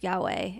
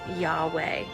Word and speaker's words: Yahweh: consonants I got it when pronounced without intervening vowels it actually sounds like breathing y-h for inhale and